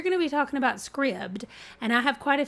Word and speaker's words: Scribd: me just say it is pronounced Scribd I watched a video from the Creator and he refers to it as Scribd I know I've heard a couple people say scribed and Scribd it is Scribd so few questions what